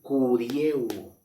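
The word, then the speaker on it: κυριεύω: Aquí está en el griego la palabra enseñorial y aquí se pronuncia kurieuo, de la palabra que significa enseñorial, que es un verbo infinitivo.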